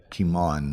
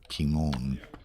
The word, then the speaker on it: Kimon: It is Kimon, not Kimon. Kimon? Pronounced Kimon. Who's yelling at us? Demetrios Sturgio, Well, he who would is know. Greek, apparently. The Greek would know. The intonation is on the first syllable, not on the second.